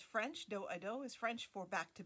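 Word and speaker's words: dos-à-dos: with you today and it's called a do a dou or in the united states we would probably pronounce it like which you might be familiar with from you know seventh grade pe when we had to learn square dancing and we did the dosie dough or the girl scout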